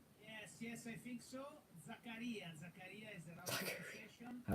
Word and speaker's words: Zakaria: club Milan an interview coming in from Milan sakaria from Juventus yes yes I think so zakarias all right you've got to say his name